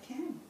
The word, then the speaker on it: Cam: Why is the vowel short here? It follows the rules. So why is it short? Is there a silent E at the end? No. Are there two vowels together? No. Is the vowel at the end? No. So it's going to be short.